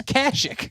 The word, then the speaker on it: Kashyyyk: It's Kashyyyk.